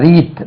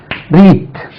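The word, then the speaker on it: wreath: சொல்லுவீங்க தமிழ்ல மலர் வளையம் மலர் வளையம் அதுக்கு சாதா ரீத் டபள்யூ ஆர் இடி எச் ரீத் ரைட் ரீத் அது ரீத் இது மலர்மாலை கார்லண்ட் தென்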